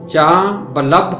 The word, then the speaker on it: جاں بلب: ہے فوت ہو جانا۔ اس لفظ کا تلفظ ہے جاں بلب ہونا۔ اس کا مطلب ہے